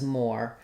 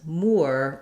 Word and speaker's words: Moore: the or pronunciation then when it comes to the name more often in American English people will say this as more but they also can say it as more with more of an ooh sound so it could be